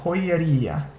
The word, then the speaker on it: joyería: Notice that here you have this first part of the word, J-O-Y, which makes the hoy sound, and then the e, which makes the sound, and then ria. So, even though it sounds like I'm saying a Y in there, this isn't really pronounced with a Y sound.